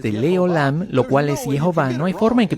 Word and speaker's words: Jehová: Nosotros no sabemos quién es este hombre, pero él recibió esto como una tradición de que la pronunciación verdadera del nombre es Jehová, y la forma en